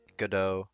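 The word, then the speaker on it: Godot: good like a goddo is i said it right for that one guy that yelled at me god oh god oh god at least i didn't say gadot bruce goodman i'm sorry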